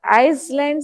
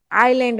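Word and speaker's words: island: नहीं ब स आइ आइसल नहीं बोलते प्रोना आ नहीं आईलैंड only S E silent okay okay ma'am न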